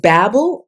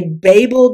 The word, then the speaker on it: Babel: As for the pronunciation some say Babble uh I say Babel because that's how the Tower of Babel the biblical Tower of Babel is referred to so but if it's